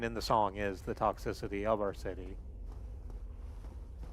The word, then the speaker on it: Toxicity: And so we always pronounce the system of a down album as toxic city because, you know, it had like the Hollywood sign out front.